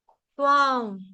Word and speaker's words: त्वां: तो यहां से धृता सवस्त्वां, त्वां, त्वां, त्वां, त्वां। इसका उच्चारण मैंने आपको पहले भी बोला था कैसे करना है।